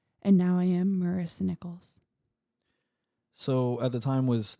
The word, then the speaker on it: Nickles: spell their last name nichols as in the coin and when people read my last name they usually pronounce it as nicholas like saint nicholas ah